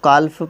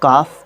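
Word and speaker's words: cough: की कफ है कफ सबसे पहली बात तो इसको कल्प प्रोनाउंस नहीं करते हैं कफ प्रोनाउंस करते हैं और हम इस ऐप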